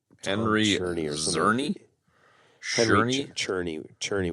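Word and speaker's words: Czerny: Cherney would be the way to pronounce it.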